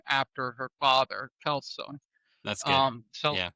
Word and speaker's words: Celso: name after her father, Kelso. That's good. Celso, I believe is how you pronounce it in Spanish.